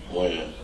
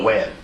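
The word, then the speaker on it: Wynn: Win. Win? Or Wen? Win. When? W-E-N or W-I-N? W-Y-N-N. W-Y-N-N. Okay.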